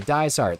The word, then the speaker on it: Dizart: Rhymes with I fart. Okay, Dizart.